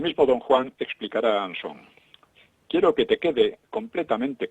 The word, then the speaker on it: Anson: Anson ha quitado el acento en la O en su apellido, ¿no? Para hacerlo más de estilo inglés. Anson.